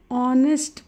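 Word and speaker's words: honest: च correct article श ऑनेस्ट person हे बघा इथ एच एन एसटी ऑनेस्ट असेल पण त्याच जे प्रोनन्सिएशन आहे ते ओ होते म्हणून आपण काय युज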